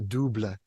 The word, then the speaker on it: double: in French broke music they're called the dubla it looks like the word double but since this French they pronounce it and so what it